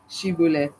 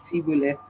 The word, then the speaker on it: shibboleth: They couldn't say shibboleth, they could only say sibboleth.